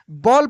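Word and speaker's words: ball: लिखा रहता है बी A double L बॉल पढ़ते हैं। यानी ये रूल है कि किसी भी वर्ड में ए डबल एल एक साथ लगा हो तो उसको ऑल के रूप में हम लोग पढ़ेंगे। ठीक है?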